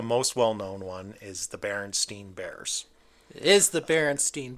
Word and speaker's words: Berenstain: The original author is very insistent that it's actually pronounced Berenstain.